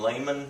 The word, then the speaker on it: Lehman: way I mean did often I hear the pronunciation layman which is probably closer to the German right but even in America we say leaving it sounds harder it sounds quicker and that's